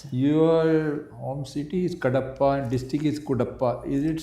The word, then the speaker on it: Kadapa: kadapa is headquarters but the spelling is different because the britishers used to pronounce it as Kapa Okay so so it